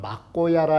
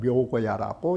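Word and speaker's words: 藐姑射: 음가는 어느 사람은 막고야라 읽기도 하고 어느 사람은 묘고야라고 읽기도 하는 것입니다.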